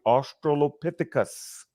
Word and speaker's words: Australopithecus: I've learned how to pronounce it properly, Australopithecus. Australopithecus africanus.